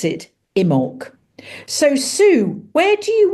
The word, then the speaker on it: Imbolc: Now it's spelt with a B, but you actually pronounce it Imbolc.